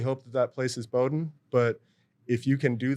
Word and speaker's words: Bowdoin: you had to educate someone on how to pronounce the name? It's Bowdoin College, and, it's been a few times, but usually I just let it slide.